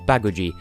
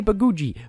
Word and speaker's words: Baguji: it towards the stage baggage II so let's go to the island of fact I want to say babuji but it's baggage II seriously listen to them that's what they say dear Lord your custom